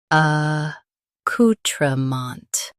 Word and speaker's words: accoutrement: uh cou tra mont uh cou-tra-mont Stress cou and keep mont soft.